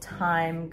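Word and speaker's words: Thyme: So it calls for a seraphim fabric called Time Goes By, which is spelled T-H-Y-M-E.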